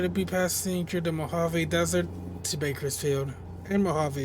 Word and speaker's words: Mojave: So, Desert Lake, Moliv, it's actually the Mojave. Said that wrong. So, you're going to be passing through the Mojave Desert to Bakersfield and Mojave itself.